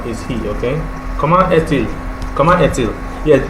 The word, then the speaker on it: Comment est-il: Yeah, this is the traditional pronunciation, the comment est-il, because you can flush these two, because when you join words together using a dash, you flush them together. Et-il. As usual, the S is never pronounced. The last word there, T, becomes pronounceable because of the joining there with this dash.